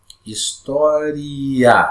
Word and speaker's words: História: Essa vogal I, ela é pronunciada com menos intensidade. E a vogal A é pronunciada com mais intensidade. Então, vou fazer a pronúncia aqui para você identificar como é que funciona aqui. Ó. Palavra Itália e palavra História. Ó. Itália, História. Tá vendo? Esse A vai lá para o alto.